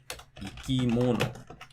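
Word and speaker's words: 生き物: Or maybe it drops after the third syllable, like ikimono.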